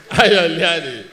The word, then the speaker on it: Ayo Liade: Okay, you know his name is Ayo, I call him Ayo, so I just pronounce it Ayo Liade.